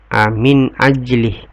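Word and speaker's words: مِنْ أَجْلِ: Min ajli, ini termasuk pembacaan izhar. Kenapa? Karena nun sukun ketemu dengan alif. Mangqatalah, ini hukum bacanya adalah ikhfa.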